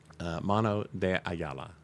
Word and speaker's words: Mano DeAyala: Mano DeAyala.